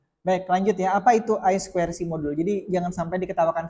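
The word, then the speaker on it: I²C: tiga kali tadi baik lanjut ya Apa itu I squ modul Jadi jangan sampai diketawakan seperti saya ya saya dulu diketawakan gara-gara bacanya sudah Bahasa Inggris padahal ya ya Tapi tetap salah karena bacanya sikir saya Harusnya i squ itu kan kan i-nya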